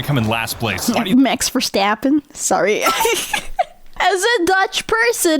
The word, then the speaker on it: Max Verstappen: This F1 race is starting and I'm predicting Max Verstappen is going to come in last place. Max Verstappen? Sorry. As a Dutch person, it's just funny to hear how other people pronounce it. It's Max Verstappen.